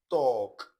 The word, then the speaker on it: talk: So let's look at the silent L, that is, you not pronounce the sound in these words. So, palm, bam, sam, walk, talk, stalk, yoke, should, could, would, folk, and so on.